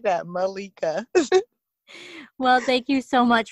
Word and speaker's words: Malaika: to find me and my name on there is malika but it's spelt like how you would pronounce it so m a underscore